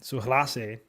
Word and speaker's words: Surace: were talking about S I think his name is pronounced um suas and you know Spanish accent I guess but Mangia we already